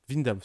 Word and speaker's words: Windham: Vindam, ça se prononce.